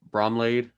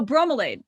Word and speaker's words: bromelain: to get mad at me because i can't pronounce it brom laid oh bromelain you are totally okay dude you're telling me